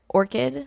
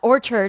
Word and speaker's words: Orchid: Orchid, like the flower, not orchard, because it drives me nuts when people say it wrong.